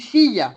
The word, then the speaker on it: fille: Par exemple, tu dis fille. On ne dit pas fille, on dit fille. Pour tes filles. Tus hijas, c'est fille. Fille. Le double L, ça se dit ye.